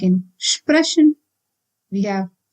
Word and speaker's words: sprechen: If you find SP or ST in the beginning of a word, you need to pronounce it as Sp and St respectively. For example, sprechen. So we should not pronounce it as sprechen, but then sprechen.